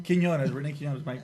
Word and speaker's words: Quinonez: Quinonez, Rene Quinonez, Mike.